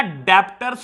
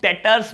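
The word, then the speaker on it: debtors: बाबू इसको ना डेप्टर्स कोई नहीं बोलेगा, बेटा यहां बी वर्ड साइलेंट होता है, इसको हम डेटर्स बोलते हैं प्यार से, डेटर्स।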